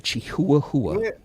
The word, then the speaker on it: Chihuahua: It's the correct pronunciation for this dog is a Chihuahua. A Chihuahua.